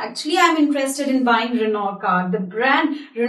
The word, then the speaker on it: Renault: word can be pronounced the right way to pronounce this word is Ren oh yeah actually I'm interested in buying Renault car the brand you're not is actually producing